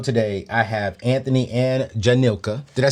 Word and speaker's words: Jhanika: I have Anthony and Jhanika.